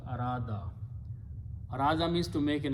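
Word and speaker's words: أراد: Af'ala, Vav will be pronounced as alif, so it becomes Arada.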